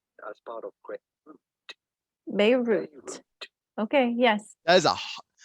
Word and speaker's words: Beirut: Beirut. Okay, yes. That is not only are they pronouncing the T, but that is a hard T.